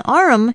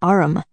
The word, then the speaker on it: arm: "Sure, it's an arm, Your Honor." He pronounced it arum.